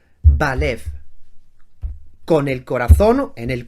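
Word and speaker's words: בלב: Bet, Lamed, Bet. Lo pronuncio ya en palabra. Balev.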